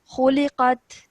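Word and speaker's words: خُلِقَتْ: Okay, khuliqat. Khuliqat. Yeah, so there's no jerk sound at the end because this ta is not part of the 5 letters of qalqala.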